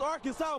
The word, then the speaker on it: Arkansas: I got that wood, and that's how you pronounce it, ain't Arkan. It's Arkansas, baby.